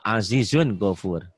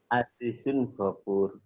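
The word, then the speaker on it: عزيز غفور: Go Azizun Gofur. Azizun Ghafur. Bapak mah mentok banget ya. Azizun Gofur. Bacanya jangan baca pakai dialog Jawa, Pak. Oh, iya, Pak. Azizun pakai dialog Quran gitu.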